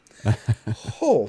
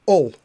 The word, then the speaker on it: Hull: I actually went to university in Hull, and I did my best to pronounce the H at the beginning of that word. Hull rather than Ull, as I would usually say.